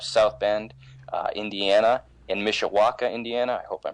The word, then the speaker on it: Mishawaka: is out of South Bend uh Indiana and Mishawaka Indiana I hope I'm pronouncing that correct is correct yeah I've been